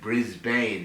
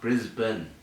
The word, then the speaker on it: Brisbane: The Americans call it Brisbane, and that's how it's spelt. Brisbane. It's pronounced Brisbane.